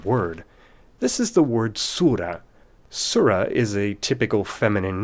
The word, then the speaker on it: surah: And that's where the difference comes in between the English pronunciation of this word, surah, the nativized English way to pronounce that Arabic word on its own with the silent T, and the French pronunciation,